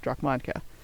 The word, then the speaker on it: Dracmanka: This would be pronounced as my Draconic name, which a rough translation of it with human vocal organs, of course, is Dracmanka. So you can see the